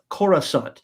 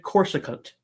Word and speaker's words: Coruscant: I had a friend who could not say Coruscant. He always said Corsicant.